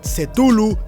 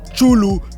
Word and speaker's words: Cthulhu: Pero en realidad Cthulhu, Chulu, Cthulhu o como quieras decirle, también funciona.